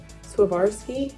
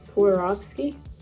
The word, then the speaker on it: Swarovski: gotta look it up swerve SWA swarvarski no that's incorrect s-w Swarovski Swarovski Swarovski Swarovski so just buy that you can tell that I've never bought any Swarovski Crystals before in my